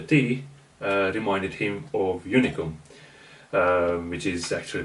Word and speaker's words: Unicum: herbaceousness of the tea uh reminded him of unicom which is actually pronounced unicom in hungary it is a dark liquor made